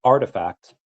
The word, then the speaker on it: RTFKT: The company last month quietly sold Artifact, pronounced Artifact.